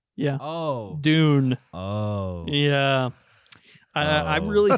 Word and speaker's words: Dune: spelled with four letters what d it rhymes a boon yeah oh dune oh yeah i i